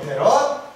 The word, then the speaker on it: 패럿: 그래서 F라고 하는 기호를 써놓고 나서 읽을 때는 여기를 패럿이라고 읽어요. 그래서 축전기의 단위는 패럿이에요. 패럿.